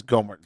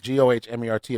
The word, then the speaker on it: Gohmert: Republicans, GOP members Ted Yoho of Florida, Louis Gohmert of Texas, Thomas Massie of Kentucky, which again, all southern states, states that have had race issues and other stuff like that.